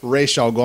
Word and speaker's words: Ra's al Ghul: Yeah, and then the actual man goes Ra's al Ghul. I'm like, yes, thank you, animated series. Yeah. That's how you say it.